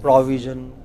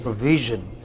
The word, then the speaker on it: provision: It is provision. The second syllable, provision. Okay, VI. What is it? Well, a lot of people said provision. They said pro. They took it to the initial syllable, and then they say we. It's not we. It is V. It is provision.